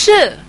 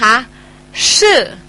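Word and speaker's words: 是: คะ พย พิ อิน สะกด ว่า เสียง พยัญชนะ SH ก็ คือ ชึ นะ คะ สระ อือ วรรณยุก เสียง 4 ชื่อ อ่า ออก เสียง ตาม นะ คะ ชื่อ ชื่อ อ่า นะ คะ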